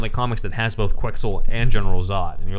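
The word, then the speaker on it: Quex-Ul: If there's actually a character named I think it's pronounced Quexel, like pretzel.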